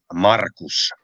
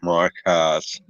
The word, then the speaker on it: Markus: You pronounce that name Markus. Gotcha. Not Marcus.